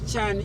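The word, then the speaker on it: cyane: Ch. Did he say it right, Moses? Uh, no. He missed Chan. It has to be Chan. It's C Y A N E. Chan.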